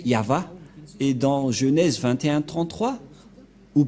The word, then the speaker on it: Yahvah: placé au milieu Yod c'est l'alphabet hébreu qui est prononcé yava et dans Genèse 2133